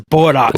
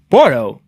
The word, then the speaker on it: Bordeaux: high pronounce you know how do you pronounce the word it like bordo I was like oh so I was wrong yeah so yeah so